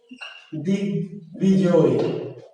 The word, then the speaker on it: দিগ্বিজয়: যেমন দিগ্বিজয়, দিগ্বিজয়, দিগ্বিজয়, তাহলে বয়ের উচ্চারণ হয়েছে, বুঝতে পারলেন?